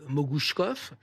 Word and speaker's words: Mogouchkov: Et quand il est là, c'est pour dire à sa professeure: mon nom se prononce comme Kalachnikov, il s'appelle Mogouchkov.